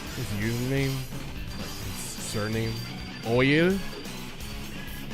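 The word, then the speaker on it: Eoyl: Oyl. It's like spelled E-O-Y-L. It's like a crazy spelling.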